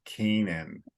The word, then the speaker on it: Canaan: so it's a strange looking word but it's Keenan all right but that does that sounds like